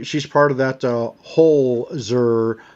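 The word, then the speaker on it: Holzer: Um she she's part of that uh hozer. Not hoser. Hole. H O L Z E R.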